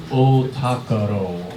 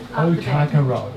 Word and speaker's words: Ōtākaro: It is pronounced Ōtākaro. Ōtākaro.